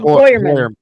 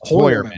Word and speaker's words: Heuermann: Hoyermann Hoyermann is how it's actually supposed to be pronounced. Hoyermann.